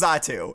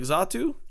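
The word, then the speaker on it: Xatu: backwards uh z uh zatu I mean yes yes it is zatu it is I mean not with a Z with an X but it is z but it's pronounced like Z like zatu yes I believe so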